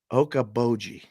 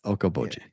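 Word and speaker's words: Okoboji: jobi plenty of times how do you say it okab okaboji okaboji yeah okaboji Lake okoi I had to practice that a hundred times say it wrong million times EOD Sean thanks for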